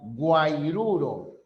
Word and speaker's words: guairuro: Y guairuro se escribe con H, con G. Varios lo están escribiendo con H, es con G.